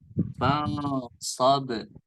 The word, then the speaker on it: فانصب: Dan itu ada ba di situ ya, ba yang sukun ya, maka itu dibaca qalqalah. Fansab. Nah, tadi Kak Emma bacanya fansab. Tidak ada pantulan.